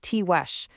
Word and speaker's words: Tiguex: The Tiguex, and it's pronounced Tiwesh, were a deeply rooted, really sophisticated people.